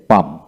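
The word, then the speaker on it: palm: রয়েছে তাই এখানে কাম হলো পি এল এম পাম পি এল এম পাম তারপরে এল এম এস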